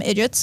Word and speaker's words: IDGIT: So these, I'm going to call them IDGITs because it rhymes with Bridget.